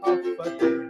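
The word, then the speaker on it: Håfa adai: Just pronounce it as Hafa adai. Sing it with a beat and say it every day. Hafa adai, Hafa adai, Hafa adai.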